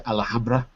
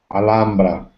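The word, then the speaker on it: Alhambra: Santiago and Rafael have you you been to alhamra have you seen the tiles in alhamra uh me no little pronunciation HRA is an English pronunciation of the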